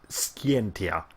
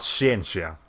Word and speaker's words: Scientia: Okay, that's pronounced Scientia, not Ciencia. Like in the Spanish word for science is ciencia, so I was gonna be like basically like that, just with a T instead of a C.